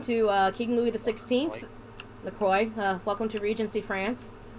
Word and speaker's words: LaCroix: uh king louis xvi lacroix uh welcome to regency france listen i would pronounce it laqua the proper way in yeah i'll have